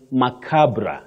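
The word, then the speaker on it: macabre: a b r e right yes that is macabra you say macabra you might have heard some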